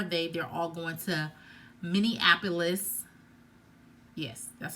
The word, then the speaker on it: Minneapolis: They're all going to Minneapolis.